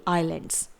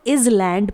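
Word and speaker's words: islands: Next है द्वीपों का समूह यानी कि आइलैंड्स। A group of आइलैंड्स, a group of आइलैंड्स। ध्यान रहे इसे हम इज लैंड प्रोनाउंस नहीं करेंगे।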